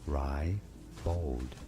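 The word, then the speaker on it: ribald: Ry, two syllables. Ry bold. Not ribbold.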